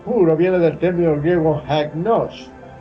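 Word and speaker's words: ἁγνός: La palabra puro viene del término griego hagnos. Se escribe J-A, una G intercalada, N-O-S, con un acento en la O.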